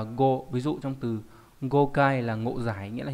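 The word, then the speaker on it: 誤解: Âm ôn đọc là go, ví dụ trong từ gokai là ngộ giải, nghĩa là hiểu sai, hiểu lầm.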